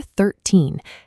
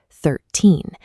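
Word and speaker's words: thirteen: In the number 13, the second digit, 3, is larger than the first digit, 1. This causes the heavy spoken stress to land on the second part of the word, 13.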